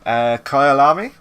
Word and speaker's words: Kyalami: This is the Kyalami, is how you pronounce it.